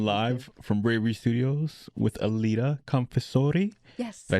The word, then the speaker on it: Aleta Confessore: So this has been live from Bravery Studios with Aleta Confessore.